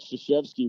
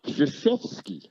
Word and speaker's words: Krzyzewski: So, and I laughed because for forever, Mike Krzyzewski would say, the Polish derivation is Krzyzewski.